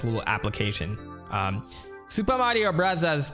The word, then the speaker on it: Bros: right now Super Mario Bros 2 it's pronounced Brothers okay sorry Super Mario